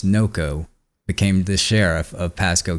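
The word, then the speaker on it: Nocco: a man named Chris Nako became the sheriff of Pasco County Florida is that how you say his name move that up so back in 2011 a man named Chris NOCO became the sheriff of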